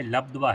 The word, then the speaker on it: लब्ध्वा: वहां पे लब्ध्वा है, ला आधा धा और वाह है ना, लब्ध्वा लद्ध्वा है ना, आधा वाह है पहले, लब ऐसा हो जाएगा, फिर ध्वा, लब्ध्वा, उच्चारण ऐसा सही रहेगा।